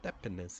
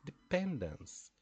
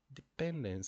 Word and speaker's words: dependence: said no it's not dependence it's dependence dependence so it's not like hospital it's like police dependence so we have